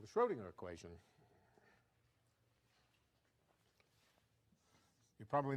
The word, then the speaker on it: Schrödinger: It's called the Schrödinger equation. You're probably not used to seeing it in that form. Anybody have a favorite form for the Schrödinger equation that we want to compare this with?